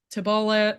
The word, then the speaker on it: Tibullus: Everyone hates on, I pronounce it Tibullus, but I've heard Tibulla, like I've heard a lot of different ways to say his name.